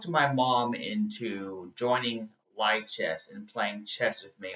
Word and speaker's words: lichess: on Li chess a lot um actually it's pronounced Le chest but it looks like light chest but whatever